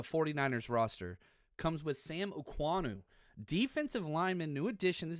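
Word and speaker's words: Okuayinonu: It's pronounced Oanu, but it's Okayuaynonu. Oanu is the way he wants it, and I hope I'm doing that right.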